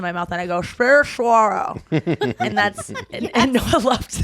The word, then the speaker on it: saguaro: about it, and she was like, "But it's pronounced saguaro because it's spelled different, right? Yeah, it's- differently." mhm. It's like And so I was like- SEGUARO. Yeah, and she was like, "No, it's saguaro," and so I wrote down saguaro, and I